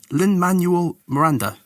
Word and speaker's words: Lin-Manuel Miranda: Lin-Manuel Miranda.